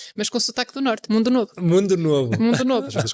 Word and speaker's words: Mundo Novo: É assim que se pronuncia? Mundo Novo.